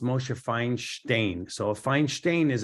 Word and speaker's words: Moshe Feinstein: know if we look at RAV Moshe finds Moshe Feinstein Moshe Feinstein was actually um born I think in Lithuania and he was called Moshe it's actually pronounced mosheifying stain so a fine stain is a is a